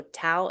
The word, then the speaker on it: Tao: ritual serves really Oh Tao is pronounced like Dow with a D sound.